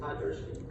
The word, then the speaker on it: Podgurski: Okay, Detective Podgurski, is that how you say it? Podgurski.